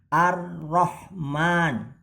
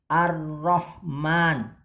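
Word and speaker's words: الرحمن: Nah, untuk tasdidnya ini ada di huruf ro ya. Cara membacanya ditahan sejenak dan agak ditekan. Jadi seperti ini. Ar-Rahman ya. Ar-Rahman.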